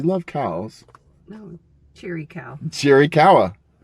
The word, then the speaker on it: Chiricahua: Cherry kawa. Cherry kawa.